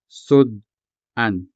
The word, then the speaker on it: sud-an: put that in perspective, let's take the word sud-an, for example. Sud-an translates as side dish into English. It is any dish specifically eaten with rice, a staple food in every Ilonggo meal. Sud-an. This word has two syllables, sud and an.